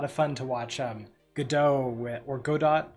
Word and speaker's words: Godot: uh all right so the author says dot so make of that what do you want well in that case the appropriate thing would be go dot all right as as